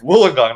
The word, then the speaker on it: Wollongong: It's Wollongong, not Wollongong.